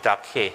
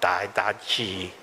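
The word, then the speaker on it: Didache: book called the dark hair okay this is pronounced dark hair not die da ji which is a greek book written in the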